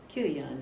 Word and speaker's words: Chilion: that was chilion too kilon is the way you kilon is the way you pronounce it pining um sickly